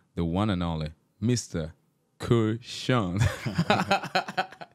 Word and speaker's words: Que'Shawn: Kushan. How you doing, bro? How did I do your name? You did okay. It's Quayshawn.